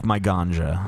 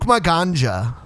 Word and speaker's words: Maganja: Well, a J can sometimes be pronounced like an H, or it can be Yeah. pronounced like a Y, depending on what language. I think it's actually Luke Maganja. My ganja. My ganja. It is like Ganja.